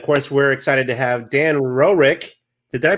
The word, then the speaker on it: Dan Roerick: And of course, we're excited to have Dan Roerick. Did I pronounce that right?